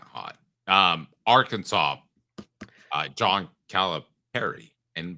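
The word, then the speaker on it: Calipari: um Arkansas uh John calip Perry and by the way it's pronounced like a pair um her thoughts I mean it is I mean the man that's the way he annunciates his last name so we should follow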